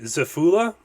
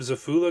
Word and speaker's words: Xephula: even pronounce this right Zula I think that's how you say it x e p h